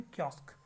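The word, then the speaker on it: kiosk: कियोस्क word सही, इसका pronunciation है कियोस्क।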